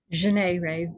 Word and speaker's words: Janae Ray: Janae Ray, French J.